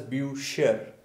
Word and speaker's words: Bücher: So because there is not simple u, there is u with umlaut, u with umlaut. So that's why this will be pronounced as bücher, and this is Buch, Buch, Bücher.